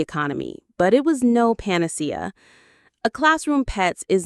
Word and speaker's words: panacea: This is a great word to know, panacea. Let's try it. Panacea. The stress is on the third syllable, panacea. A panacea is a solution